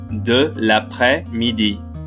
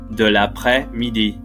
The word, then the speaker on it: de l'après-midi: De l'après-midi. De l'après-midi. You'll notice there's a silent S in the middle. De l'après-midi.